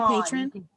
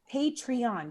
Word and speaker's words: Patreon: Did you say patron? Do it. Yeah, Patron. I never Patreon. say it right, y'all. I promise it's not the alcohol. It's It's the fact that Patreon. Two vowel sounds that just don't make sense in my weird Midwestern twang. Patreon.